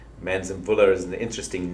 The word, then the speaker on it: Manzimvula: an organization called manzanbulla manson bulla is an interesting name a lot of people look at it and say how do you say that well it's actually said phonetically exactly like it is written and what it means